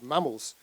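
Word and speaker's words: MAMIL: in the UK that we called mammals, which is spelled M-A-M-I-L-S, which are middle-aged men in lycra.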